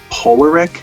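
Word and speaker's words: Poulerik: hard to pronounce it i think it's polaric just reading it p-o-u-l-e-r-i-k so that's an interesting type of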